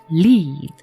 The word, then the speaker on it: lead: 앞에 L 발음은 lead입니다. lead. 그다음에 R 발음은 휘파람 불듯이 입술을 모아서 우 합니다. read입니다. read. lead, read.